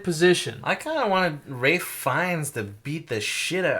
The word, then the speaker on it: Ralph Fiennes: His I name's liked Ralph Fiennes. I just said Rafe Fiennes. That's his Ray? name. Rafe Fiennes is his real name. Really? That's how it's pronounced.